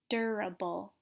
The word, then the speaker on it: durable: words just like before the stress is gonna be at the beginning of the word so remember to pronounce this longer louder clearer so capable durable like a bull nice